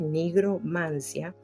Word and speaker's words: nigromancia: Esta palabra muchas veces se pronuncia mal, pero es así correctamente como se pronuncia y se escribe con la G, nigromancia.